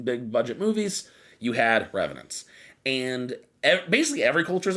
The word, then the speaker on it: revenants: got to talk about revenants so how do you spell that uh r-e-v-e-n-a-n-t-s revenants yeah okay they said revnots revnox and I was like did not dreadnoughts so revenants are the